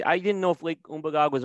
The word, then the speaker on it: Umbagog: And as I've always said before, the proper pronunciation for everybody that lives here, it's Umbagog, but Umbagog. I've said it wrong for years, so I keep saying it wrong.